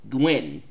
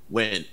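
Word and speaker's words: Nguyen: Not a bad guess, but they answer to Gwyn. I think that's how you pronounce it. Win. When? Okay, yeah, so I was close. At least I remembered that the first N was silent.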